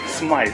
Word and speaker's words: Smythe: Smythe. Smythe, like silent E at the end.